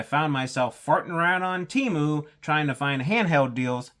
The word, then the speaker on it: Temu: I think they pronounce it Temu now, but don't gurned it, I was around when they were Temu, and that's how I say it.